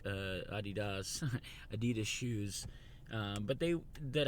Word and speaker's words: adidas: they're made in Europe they always pronounce it Adi does which for years I wish I was adidas so I'll keep saying adidas until somebody corrects me